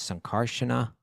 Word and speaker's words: Sankarshana: no no sh sound why do you say sankarshana huh you're saying with a long a sunkarshana that's not Carson it's sunkarshan because it has the r you have to say it it has the R's I'm not gonna I